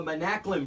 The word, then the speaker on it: Manaklin: That's all coming up, but we're lucky enough to be joined in studio by some special guests, the Manaklin brothers.